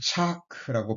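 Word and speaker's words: צעק: 원어로는 차크라고 발음이 되는데 이것은 온 마음이 쏟아질 정도로 하나님 앞에서 통곡하는 것을 가리킵니다.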